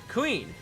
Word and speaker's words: Kuin: of her given name queen it is pronounced very similar to queen which yet again plays